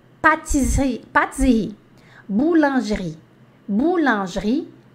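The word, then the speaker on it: pâtisserie: para ficar bem bonitinho o seu a sua pronúncia boulangerie patisserie partes aí boulangerie boulangerie patisserie boulangerie patisserie é a padaria Confeitaria tá então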